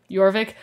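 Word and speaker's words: Jorvik: so there you go yorvik well it it sounds like yorvik but it's said like it's um it's spelled j like j o r v i k so cuz it's from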